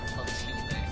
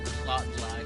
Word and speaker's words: Clotilde: So that's how you pronounce her name. I could never fucking pronounce weird names like that. Lady Clotilde. I probably would have said something like plot glide or some shit like that.